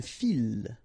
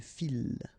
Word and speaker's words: file: Une file. Okay, so don't try to, don't mix it with une fille, okay, because you get the double L, but in that case you get only one, so une file, okay, un fil, une file.